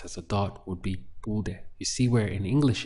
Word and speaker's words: pude: If we're expressing I could as a dot in the past, that would be pude. Pude. 2 syllables.